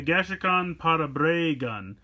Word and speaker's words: Parabragun: So they kind of call it the Gashacon Parabragun, even though it's BRA instead of like a BRE, they pronounce it Bray, which is interesting.